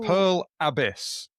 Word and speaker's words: Pearl Abyss: Um their stock uh dropped 30% on Pearl Abyss. How do How do you pronounce How do you pronounce It's the the emphasis on the A.